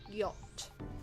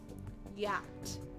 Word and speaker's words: yacht: Yacht. It's like that, okay? Yacht.